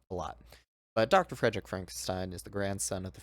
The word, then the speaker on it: Frankenstein: clips uh we got It's pronounced Frankenstein uh so we got